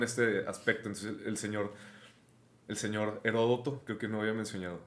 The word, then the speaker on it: Heródoto: Heródoto con acento en la primera. Es el acento, Heródoto, ok. Me gusta entonces, Heródoto, güey. Suena mal. Ya, yo le digo Heródoto porque aparte así sale en Wikipedia con ese acento en la O.